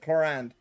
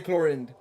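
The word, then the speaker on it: Clorinde: Chlorand, that's how you pronounce it. The French version of pronouncing it, Chlorand. I mean, that's how they pronounce it on the English stream, so I'm just sticking with it because that's the only one I can use. I'm not gonna say Chlorind, because that is not French.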